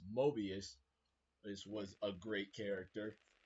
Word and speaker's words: Mobius: the time keeper twist Mobius hopefully I'm saying it right not morbius Mobius this was a great